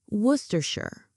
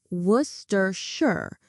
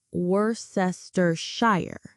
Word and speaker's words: Worcestershire: Worcestershire. Worcestershire. This is a famous English sauce. I put Worcestershire sauce on my steak. The pronunciation is Worcestershire, not Worcestershire.